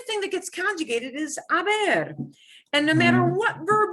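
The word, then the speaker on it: haber: to be a but they're all spelled with h's because aber yeah has that age that we can't get rid of we just don't pronounce it the form will be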